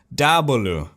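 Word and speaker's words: 大菠萝: Big Pineapple is pronounced Dabalu. Dabalu. It's just how they say Diablo. It's just a joke for them because Diablo sounds like their big pineapple.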